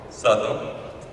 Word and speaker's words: Southwell: How do they pronounce that name, good father? Southwell.